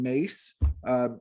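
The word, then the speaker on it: Myss: i enjoyed reading by caroline mace it's spelled m-y-s-s but caroline mace has a book called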